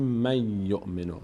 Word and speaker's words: من یؤمن: یؤمن دیگه من یؤمن بعد از نون ساکن یا اومده نون دیگه نون تلفظ نمیشه میگیم میومن من یومن نون فقط